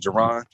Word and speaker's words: Jaron: It's pronounced Jaron and not guilty.